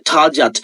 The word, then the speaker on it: Taljaard: phuli emnxebeni osuka kuyo ke i-United Independent Movement, I think it's Taljaard. Apologies if I butchered your name and surname there. Sincerely apologize. You actually did a very fine job. You actually got it right.